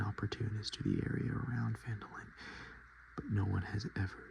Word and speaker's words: Phandalin: Times were good, and the nearby human town of Phandalin, pronounced Phandalin, prospered as well.